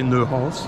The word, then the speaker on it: Neuhaus: In French we say Neuhaus.